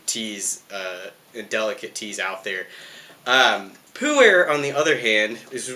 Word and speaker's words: Pu'er: language a little bit, but Pu'er, it's Pu, usually has a comma, and then er, Pu'er, Pu'er, Pu'er. Your guess is as good as mine. And Pu'er itself comes in different